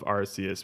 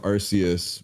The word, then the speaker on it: Arceus: on the level of Arceus because all of the Pokemon games before that